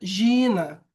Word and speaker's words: Geena: A segunda palavra se pronuncia Gina, o vale de Rinon, um lugar geográfico real, fora de Jerusalém.